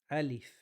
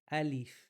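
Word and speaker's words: ألف: To help you guys in pronunciation, you really got to get the kas out. E alif. Many people say al like an sound. Alif sounds lazy. Alif. Get the e out clear.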